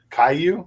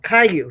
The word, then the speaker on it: Caillou: The bald kid the the cartoon Caillou. Caillou, that's how you say his name.